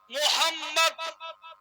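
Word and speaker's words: محمد: সাল্লাল্লাহু তালা আলাইহি ওয়াসাল্লাম তাতে দুইবার মিম এসেছে উচ্চারণ তিনবার হয় মুহাম মা তাহলে মিম উচ্চারণ কবার হল তিনবার উচ্চারণ হয় নামে আছে দুইবার মিম এক মিমের উপরে তাসদিদ আছে অর্থাৎ ওই মিম টাকে ডবল উচ্চারণ করতে হবে।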